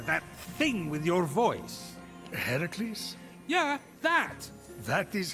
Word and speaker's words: Heracles: you doing there that thing with your voice heracles yeah that that is how it's supposed to be pronounced but it's your funeral except i can't